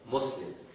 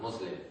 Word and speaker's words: Muslim: you would call yourselves Muslims many times a term Muslim because in English when you write s a single s then they would pronounce it with with a zed sound Muslim and because Muslim is